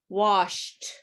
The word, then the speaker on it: washed: t in these words look at these words or listen to these words and look washed missed there's a sound but there's no t in the spelling it's crazy okay so